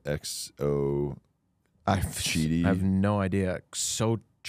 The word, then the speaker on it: Xochitl: Xochitl. Xochitl Galvez. I think it's like chi when you... Oh, okay. With the X.